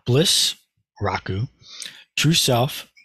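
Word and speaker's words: 楽: is the character and this is the Japanese pronunciation Joe Bliss Raku true self G and and we'll get back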